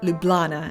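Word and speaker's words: Ljubljana: time to visit slovenia's capital city lublana or lublana as I heard at least two locals say proudly embracing the legend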